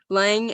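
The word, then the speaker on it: Laing: is that how you say his name yeah lange and hegel uh they were both about self-consciousness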